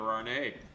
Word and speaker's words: Arnet: And our special guest today, candidate for Pittsburgh City School Board, Heather Arnet. The T is silent.